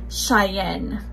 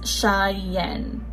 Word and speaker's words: Cheyenne: out that base sague the correct way to pronounce her name is cheyenne so it's shy yen and then the nickname